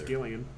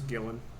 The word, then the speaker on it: Gillan: i pronouncing that correctly is it gillan or gillian i actually don't know yeah it's gillian i guess it might be uh i don't know no it's gillan you're right have a saying